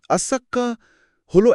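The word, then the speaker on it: الصاخة: কোরআন সেই দিনটার যে নাম দিয়েছে তার শুদ্ধ উচ্চারণ শুনলেই বুকে কাপন ধরে যায়। আসসাক্কাহ।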